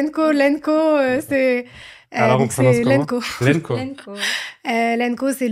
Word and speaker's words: LNKO: La première question c'est est-ce qu'on prononce elenkoen ? Lenko, c'est Lenko.